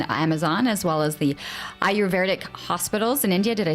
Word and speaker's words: Ayurvedic: His work in the Peruvian Amazon, as well as the Ayurvedic hospitals in India. Did I say it right? Ayurvedic, almost?